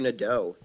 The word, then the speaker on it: Nadeau: EAU is always O in French, except for beautiful for some reason, which